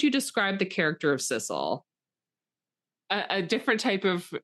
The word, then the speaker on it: Cecil: I'd see his name and I want to say Cecil or Ceil or I I I would say Cecilele, but it's they pronounce it sisle like like the grass like s i s a l.